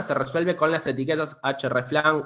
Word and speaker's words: hreflang: Todo este problema se resuelve con las etiquetas hreflang o hreflang, es difícil de pronunciar, es como la herramienta href. Sí, vamos a decirlo en español, hreflang.